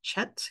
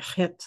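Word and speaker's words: חית: Western, maybe English speaking people would pronounce it chet because it starts with a ch, but I believe it's like chet, like a very kind of guttural pronunciation.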